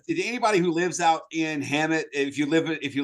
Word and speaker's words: Hemet: sound, that is a word being spelled out phonetically, they do it H--m. So, HemT kind of. Wow. It's a stupid town name. Danny Dre or uh anybody who lives out in Hammet, if you live if you listen to this,